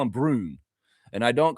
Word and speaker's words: Braun: Uh Christian Brun is pronounced Brun. Brun. Yeah, I'm I'm I'm I don't give a He's an up. I don't care. I I was calling him Christian Braun for a long long time.